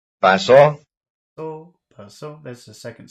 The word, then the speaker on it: paso: So, paso, that's the second syllable. Number 4. Paso. Paso. Paso, paso, that's the first syllable.